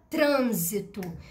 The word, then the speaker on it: trânsito: exemplo eu que e qual é a sílaba tônica da palavra trânsito trânsito tem acento né acento circunflexo no na sílaba trans quando